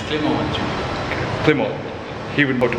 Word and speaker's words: Clement: It's Clement. Clement. He would know to pronounce his name best.